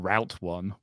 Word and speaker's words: route: vitamins vitamins oh man also said Route One rather than Route One Route One route one yeah yeah you're right routes Roots some sometimes I'll say root yeah it's because that's the right way to say it's route one and it's you take it you take the roote home there's been times where